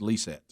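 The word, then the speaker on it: Lysette: name is it's l-y-s-e-t-t-e but he says it's pronounced lee set yeah lee said lisa lisa lisa so jeremy and lisa schweitzer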